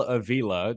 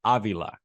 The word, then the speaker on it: Avila: But well, you remember Al Avila, the GM of the Detroit Tigers, his son Alex Avila. Avila and Avila, father son, opted for different pronunciations of the same last name.